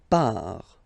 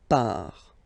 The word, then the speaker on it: part: Il, elle, part. Final T not pronounced. Il, elle, part.